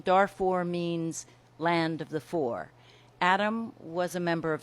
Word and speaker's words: Fur: spelled F you are looks like fur but it's pronounced for and the Darfur region Darfur means land of the for adam was a member